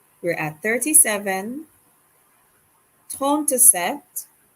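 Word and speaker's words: sept: at 37 ton to set remember not to pronounce the p for set 38 now turn to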